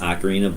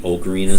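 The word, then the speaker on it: ocarina: if I say oine I know it's supposed to be pronounced acarina but I grew up saying okarina so that might slip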